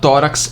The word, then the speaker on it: tórax: E tórax é uma paroxítona terminada em x.